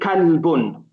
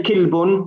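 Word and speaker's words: كلب: We have to say kalbun. We're not going to say kilbun. We're not going to say kulbun. We're not going to say kullabin. We're not going to say kulliban. You know, we just have to learn that the word is pronounced kalbun.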